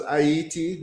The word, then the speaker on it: Haiti: Um, also known as ITI, which is the proper pronunciation, but some people don't know, so I'm just going to say Haiti.